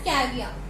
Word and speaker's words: caviar: Last में are silent होता है, हम इसे प्रोनाउंस करते हैं एज कैवियर।